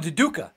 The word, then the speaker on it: Duduka: yeah, it's called Duduka.